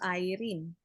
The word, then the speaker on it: Irene: It should be pronounced Irene.